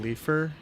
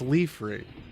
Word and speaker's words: Leafre: Can you guys, did you guys also do a double take when Artail pronounced Leafree Leafer? Who the fuck says Leafer? Leafer? It's Leafree. Leafer sounds dumb.